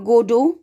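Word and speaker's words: Godot: It is option A waiting for गोडो, इसका pronunciation होगा गोडो, टी जो है लास्ट का वो साइलेंट रहेगा।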